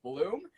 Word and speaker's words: Blum: When you were pronouncing my name, you got it right when you said Bloom, but then that guy came in and he's like, "Nah, it's Blum." I'm like, no, he had it right the first time.